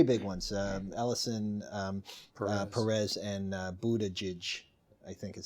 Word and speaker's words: Buttigieg: The three big ones: Ellison, Perez, and Buttigieg, I think is how he pronounces his name, are saying which might disqualify. I think that right along. Right. Although He's got two G's that sound like J's, and you know, he's